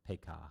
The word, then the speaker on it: Pekah: Pekahiah is killed by Pekah, or Pekah, if you want to pronounce it correctly.